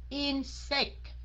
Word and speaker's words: insect: Insect, bite. Cái âm CT cuối cùng đó, okay? Nó là âm K, okay?